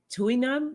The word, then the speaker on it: Tui Na: kind of Massage a two how do you pronounce that Tui Nam massage I've had I've never heard of that